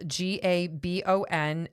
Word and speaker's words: Gabon: There's a country called Gaba Gaban and it's it's spelled G A B O N and it's in central Africa and we have a listener in Gabon Africa.